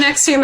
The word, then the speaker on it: NXIVM: it's not the same Nexium it's actually spelled like NX I VM but it's said Nexium okay Nix them all